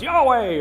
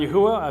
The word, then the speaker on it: Yahweh: would totally makes sense the pronunciation that I have chosen for the tetragramaton I'm not dogmatic about that I know some people you know it's Yahweh or Jehovah or yahovah I've kind of gone through all of them in the course of my journey um looking at the various pronunciations of four consonants uh I've landed on Yahweh if you say Yahweh I'm good with that too so I don't think